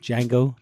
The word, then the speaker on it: Django: I was like, and then we'll do like Django where the D is silent, Django, DGAN, whatever the fuck it is.